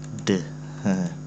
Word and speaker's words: the: Ini cara bacanya ada dua. Satu, cara bacanya adalah de. Dia akan dia de itu dibaca kalau bertemu kata benda yang berbunyi konsonan dan akan dibaca di apabila bertemu kata benda yang berbunyi vokal.